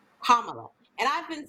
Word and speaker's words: Kamala: But it's not Kamala. It's Kamala. Kamala. Kamala. So think of a punctuation mark, a comma, and then put la on the end. Kamala.